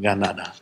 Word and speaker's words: Granada: Also das K wird heute meistens als G ausgesprochen. Ein bisschen so wie Fränkisch. So zwischen K und G eigentlich. Und das T ist so zwischen T und D. Also Granada.